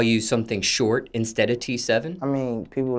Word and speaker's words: T7: your stage name t7 the regular letter T and number seven t7 do people mispronounce this